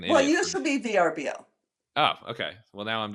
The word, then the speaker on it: VRBO: VRBO. It's not No, Verbo. they say Vrbo. Oh, they do? Okay. See, I heard on a different podcast, VRBO. I always thought it was Verbo, so I just made myself